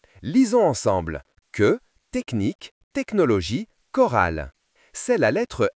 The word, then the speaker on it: technologie: Les lettres ch ensemble font parfois le son que dans certains mots comme orchestre, chronomètre, technologie. Que comme dans orchestre, lisons ensemble. Que orchestre ? Que comme dans chronomètre. Lisons ensemble que chronomètre.